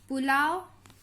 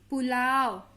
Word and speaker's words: पुलाव: कुटिया, जामुन, पुलाव, ना कि पुलाव, पुलाव ऐसे देर तक नहीं पढ़ते हैं तो पुलाव। पू जल्दी से बोल रहे हैं तो यह छोटा हो।